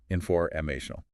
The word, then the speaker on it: informational: The main stress, the primary one, is on MA. Inforamational.